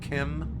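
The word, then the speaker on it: CHIM: Is this what it means to achieve Kim? It's weird that it is pronounced Kim. That's what Michael Kirkbride says. It's kind of like a GIF thing.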